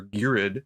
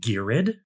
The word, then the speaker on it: Ghired: I've always pronounced it Ghired.